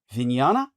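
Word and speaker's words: vijñāna: Vana or her vinñana.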